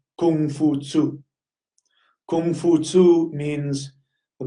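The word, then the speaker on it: Kong Fuzi: Confucius is actually Kung Fu Tzu.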